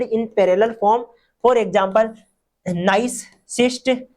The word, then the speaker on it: gneiss: यहाँ पर GNEISS दे रखा है, इसमें जी साइलेंट है, इसको नाइस बोलते हैं। क्या बोलते हैं, नाइस बोलते हैं।